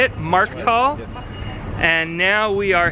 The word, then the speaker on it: Markthal: Markthal?